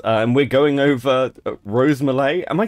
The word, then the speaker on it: Mulet: so rose rose gets very mad when people pronounce her name properly it's she insists it's mle she's been like very uh very insistent on